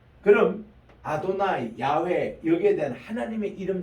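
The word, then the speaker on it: אדני: 그래서 이거를 유대인들은 이름 말을 수도 로드라고 하는 아도나이라고 발음해요.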